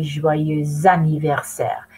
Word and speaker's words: joyeux anniversaire: But because joyeux ends on an X, you take it over to the A and you say joyeux anniversaire.